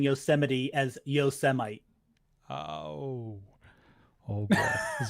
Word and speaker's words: Yosemite: Yo, Semi. Come on. I'm assuming you saw that. I was looking away, unfortunately. No, I mean, someone mispronouncing Yosemite as Yosemite.